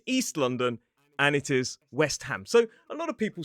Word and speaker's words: West Ham: But actually ham in this word is not a suffix. It's its own word. So we pronounce it as ham, not two words. So we say West Ham.